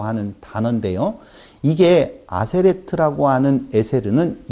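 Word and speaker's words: עֶשֶׂר: 사전에서는 에세르로 나오고 여기 문장에서는 아세레트로 나온다고요. 그 다음에 하데바림이라고 하는 말, 다바르라고 하는 단어인데요. 다바르, 하데바림이라고 하는 단어인데요. 이게 아세레트라고 하는 에세르는 열.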